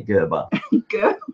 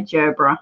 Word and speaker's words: Gerbera: people say well then and we say it different here in Australia we say jobra yeah but I love